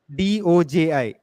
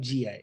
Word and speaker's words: doji: call as a doji a doji spell it look like a doj d-o-j-i d-o-j-i not gi no no doji it's a doji candle okay so okay what